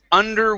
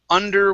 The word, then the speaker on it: under: say under water okay your er on water was pretty good but you rolled your r here saying under okay so let's uh let's push the tongue down under water that's under water okay one more